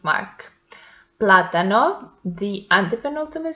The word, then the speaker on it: plátano: Plátano, the antepenultimate syllable is the stressed one, and it has the accent mark.